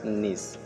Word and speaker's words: knees: এরপর এখানে লেখা আছে নিস KNEES নিস মানে হাঁটু, এখানে ক্যাটে উচ্চারণ হবে না।